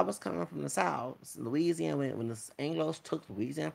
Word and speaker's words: Louisiana: Since the French were mostly Catholic, they came to Spain and Florida, Spanish Florida, and Louisiana, Louisiana, because it like Louise. Okay, that's how it's pronounced.